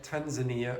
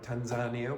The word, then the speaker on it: Tanzania: Africa Nigeria Ghana Kenya Tanzania or Tanzania whichever pronunciation you want and Jamaica now it